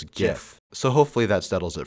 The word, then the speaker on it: GIF: This is obviously pronounced as GIF, so hopefully that settles it for everyone.